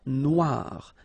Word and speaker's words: noir: Then here, la mer Noire. Same thing here that we had previously. Final not pronounced, okay? And then OI, remember, wa, noir, noir. La mer Noire, okay?